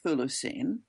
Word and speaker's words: Chthulucene: So first of all, I pronounce it Thulu scene and it's at Kinos.